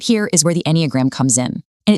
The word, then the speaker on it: Enneagram: The word Enneagram, it's pronounced Enneagram, literally just means a drawing with 9 points.